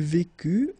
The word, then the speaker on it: vécut: Il vécut, elle vécut, final T not pronounced.